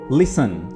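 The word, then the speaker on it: listen: आ जाता है लिसन लिसन आपने लिसन में टी को प्रोनाउंस नहीं करना है टी को साइलेंट रखना है और लिसन का मतलब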